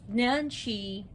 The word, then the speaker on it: Nanshe: their behavior today i'm less than pleased so nancy she's also called i forgot to bring this